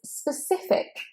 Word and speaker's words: specific: And here you want a k at the end. It is a k sound. But you've got 2 S's here, specific, specific. That first E is said as schwa, specific, specific.